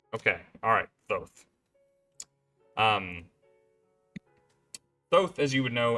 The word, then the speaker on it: Thoth: It is Thoth. Okay, alright, Thoth.